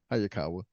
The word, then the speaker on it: Hayakawa: Hayakawa.